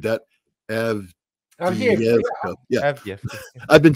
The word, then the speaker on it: Avdiivka: I'm sure I just butchered that. Avdiivka.